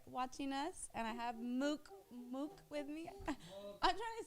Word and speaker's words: Mook: And I have Mook with me. I'm trying to say it like my uncle, but Mook. He said it in a different way. Mook. Mook. MOOK. Mook. Make sure it's move, not muck.